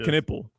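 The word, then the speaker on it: Knueppel: I I would say though uh Canipple from Charlotte is Canipple is a well it's pronounced Canipple.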